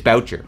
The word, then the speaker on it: Boucher: saying his name wrong it's not bue it's it's Boucher it's Mac Boucher his video is playing